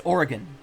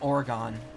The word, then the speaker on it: Oregon: I looked it up it's Oregon like that got to go low on all of the uh all the vowels not Oregon or Oran is